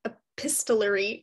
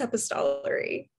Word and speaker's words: epistolary: probably the wrong pronunciation i was saying epistlery that's not correct that sounds better than what i'm saying i'm sure it's epistolary it might be and